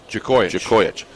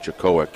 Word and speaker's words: Jakojic: Coach, I got to pronounce it right, Nick. Jakojic. I think last year I called it Jakowic, and I knew I had it wrong.